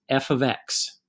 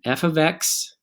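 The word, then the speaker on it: f(x): going to evaluate so that's just and it's pronounced f of x f of x is equal to three x plus five these are exactly the same equation y equals three x plus five and f of x let's have again how it's pronounced f of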